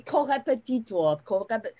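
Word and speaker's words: Korrepetitor: First of all, congratulations on the pronunciation, because it's very good. It's not very easy to say chorepetitor. This is something that was difficult for me to learn in the German language.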